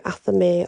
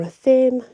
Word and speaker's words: athame: a wonder you know your athame or a theme depends how you want to pronounce it you can use those